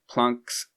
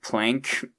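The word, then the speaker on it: Planck: It's not plank. I might say that sometimes by accident but from what I know it's actually plunk is the correct pronunciation.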